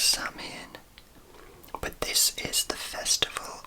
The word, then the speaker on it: Samhain: So the ancient origins of Halloween are Samhain, which is pronounced as Samhain or Samhain. I would have always thought it was Samhain, but this is the festival of the end of the summer.